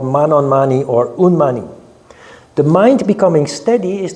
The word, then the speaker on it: unmani: mind is the state called Manon mani or unmani remember unmani the three syllable Mantra of the crown chakra so unmani